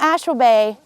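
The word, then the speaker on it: Ashwabay: surprisingly warm now mount ashford bay interestingly enough they created that name because of washburn ashland and bayfield so that's an easy way to remember how to say it let me tell you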